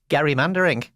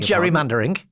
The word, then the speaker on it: gerrymandering: I've discovered via the American Friction Guys on their podcast, it's actually pronounced Gary Mandering. We've been saying it for wrong for years. It's not gerrymandering.